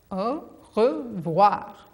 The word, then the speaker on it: au revoir: You say it like this, au revoir. That's French for goodbye.